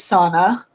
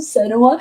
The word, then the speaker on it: Senua: have trouble pronouncing names senua i thought was sauna do we not remember this hot mess that happened and then someone got so butthurt in my comment section about the fact that i pronounced the name sauna instead of senewa they were like it's